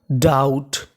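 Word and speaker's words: doubt: इसे पढ़ते हैं डाउट। क्या पढ़ते हैं? डाउट। यहाँ पे बी साइलेंट है, हमें बी का उच्चारण नहीं करना।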